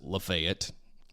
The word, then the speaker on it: Lafayette: are all aware that it's Lafayette but we pronounce it lefet and there is a reason for that there